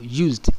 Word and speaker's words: used: The ed at the end of used is silent.